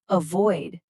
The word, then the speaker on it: avoid: Again, stress that second syllable, avoid.